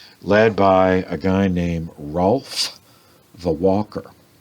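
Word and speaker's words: Hrolf: by a guy named Rolf the Walker. It's spelled with, it's H-R-O-L-F, Rolf the Walker.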